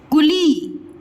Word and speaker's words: कुली: कुली, कु ली, ल में बड़ी की मात्रा ली, कुली, ठीक है।